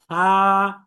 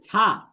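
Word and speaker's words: ث: অথচ এটা কিন্তু ছা হবে না, এটা হবে সা, খুব নরম পাতলা।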